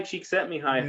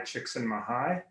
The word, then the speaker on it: Csikszentmihalyi: the name of Mihai Csikszentmihalyi. It just rolls off the tongue, and it's spelt exactly the way it sounds. Except there is a random Z in there that you never remember where it belongs.